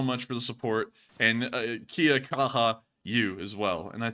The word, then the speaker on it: kia kaha: James said, in New Zealand, we have a saying, kia kaha, or kia kaha.